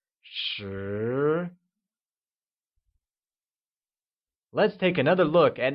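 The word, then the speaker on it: 十: 10 becomes shi and is pronounced with a mid-rising tone, like shi.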